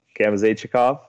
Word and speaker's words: Gamzachikov: Last name is pronounced Gamzachikov. It's a long one.